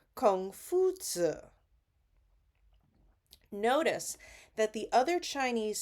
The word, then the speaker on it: Confucius: Now, the West call him Confucius, but in the original Chinese, his name is pronounced Kong Zi or Kung Fu Zi.